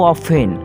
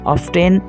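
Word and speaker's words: often: মাঝে, sometimes, sometimes, how অফেন কতবার, হাউ অফেন, হাউ অফেন, অফটেন বলে ভুল হবে উচ্চারণটা, অফেন মানে হলো প্রায়ই,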